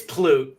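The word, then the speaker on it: Pulte: It's Plute it. Look, look, let me help you out. Anabower is Plute. Call him Plute, please.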